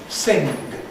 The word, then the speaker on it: sing: And this is an example as the spelling sort of suggests words like sing used to end in a vaive thus sing and this pronunciation still persists in parts of the north of England.